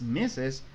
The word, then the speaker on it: Mrs: sepan que es Mister mrs es meses Aunque la r no se pronuncia verdad muchos dicen pero